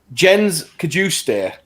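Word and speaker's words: Jens Cajuste: big big list of names here is that jen's could you stare i'm going with uh that's that is perfect pronunciation yeah sweet swedish international currently playing for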